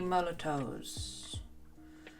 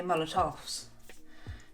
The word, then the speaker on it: Molotow: And then we've got 3 Molotows. Am I pronouncing them right? Because normally I say Molotovs, thinking they're Russian and they're not, they're German.